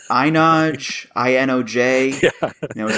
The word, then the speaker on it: Inoj: Yeah, I had to look up how to say this person's name, because I was like, Inoj, I-N-O-J.